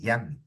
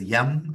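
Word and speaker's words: यं: Like pronounced like you say Young, young, young at heart. Young, young. It's with a nga. Now, most people, because of miscommunication, the world thinks it is yum, as in being yummy.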